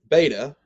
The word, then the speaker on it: beta: out type of a beta is pronounced virtually identically to the b in english so beta it sounds like the b in bible gamma sounds like the g